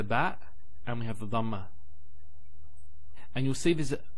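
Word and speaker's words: ضمة: Some people actually, they don't say it with a dad. They say it with a dal. So they say dhamma. It's not dhamma, it's dhamma.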